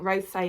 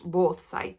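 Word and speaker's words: Rothesay: to explain it so I was just uh pronouncing it Ro say and it's Ro say so the RO say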